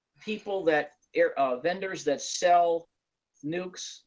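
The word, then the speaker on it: nuc: You can Google people that vendors that sell nukes, which is spelled N-U-C, Mm-hmm.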